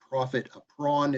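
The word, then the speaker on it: profit à prendre: It's profit, so Profit, and then a with a little apostrophe over the top, prond, Prendre, profit a prawn, it's pronounced. It's a law French term.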